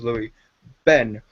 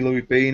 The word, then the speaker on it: Louie Ben: Bean, even though I've said on numerous occasions my name is Louie Ben. And that just annoyed me a bit, because it's just like, it's a bit disrespectful. I wouldn't get someone's name wrong on purpose. Fair enough the first couple of times, but every time I go on there calling me Louie Bean, it's just a bit like, thanks.